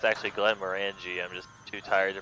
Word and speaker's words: Glenmorangie: Glen Meringue. I think it's actually Glenmorangie. I'm just too tired to pronounce things correctly.